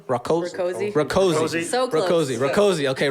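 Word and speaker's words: Rakoczy: Jessica Rakosa? Rakosi.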